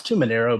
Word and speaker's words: Tuminaro: name I was forgetting no it's too Monero but everybody pronounced that so it's whatever yeah is that Italian